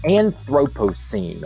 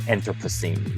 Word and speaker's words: Anthropocene: history as a result the anthropocene or if you're british you call it the anthropocene either pronunciation is fine but the anthropocene